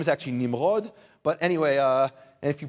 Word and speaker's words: Nimrod: Maybe because we pronounce, anyway, his name is actually Nimrod. But anyway, and if you pronounce it Nimrod, that's kind of a Nimrod thing to do.